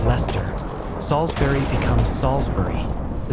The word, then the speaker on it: Leicester: Worcester becomes Wooster, Gloucester becomes Glosster, Leicester becomes Lester, Salisbury becomes Salisbury.